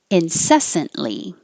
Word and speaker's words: incessantly: Don't say the T. Incessantly. The T and the L are made in the same place. So once you go up for the T, incessant, hold it and make the L.